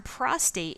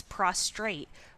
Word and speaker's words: prostate: the body to another the term prostate is frequently mispronounced as prostrate with an extra are added prostrate is a position